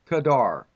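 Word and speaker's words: קָדַר: It's kadar, Q-A-D-A-R or K-A-D-A-R, to be pronounced.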